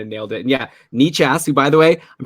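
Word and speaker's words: Nečas: It's spelled Necas, but I think we looked this up before we were talking about him last summer, and it is Martin Nichas.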